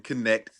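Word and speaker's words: Knecht: The Lakers drafted Dalton Connect. You hear that? Hear that, Scoot? It's pronounced connect.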